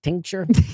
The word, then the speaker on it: tincture: C and tinure Tink is it Tink tincture yeah I have a there a lot of consonants in that word a lot going on